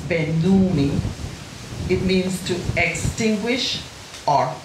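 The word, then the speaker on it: σβέννυμι: S-B-E-N-N-U-M-I. Spenumi. It's pronounced Benumi.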